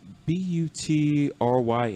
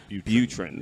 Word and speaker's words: Butryn: It's Butryn, and I will mess up the pronunciation in a heartbeat. And she's a very funny woman. And also a mate named Josh Gibson. Butryn.